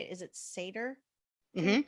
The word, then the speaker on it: Seder: Is it Seder? Mm-hmm. Seder. Okay. Before all that was happening, Josh and I made Zoom backgrounds for the dinner. That's genius, because so many people had to do virtual Seders.